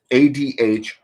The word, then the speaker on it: athame: Now, Robert Graves, a very well-known neo-pagan, okay, pronounces the athame as ADH-DHEME, meaning Arabil, which means arrow, okay.